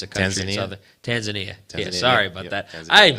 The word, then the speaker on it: Tanzania: there was a guy from I think it's pronounced tanzia it's a country Tanzania yeah sorry about that I'm such an uncultured